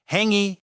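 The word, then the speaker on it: hāngī: their traditional dish, the Hangi. And the way you pronounce this Maori word sounds super close to the word hungry. It feels like destiny. Honestly, it's pretty funny. Hangi It's actually a type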